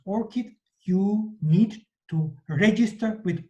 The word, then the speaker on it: ORCID: So you probably know ORCID Flower, and to memorize this abbreviation, ORCID, it's pronounced ORCID, you need to register with ORCID platform.